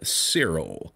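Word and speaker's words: Siril: And it goes by the name of Cyril. And to spell that, it's S-I-R-I-L.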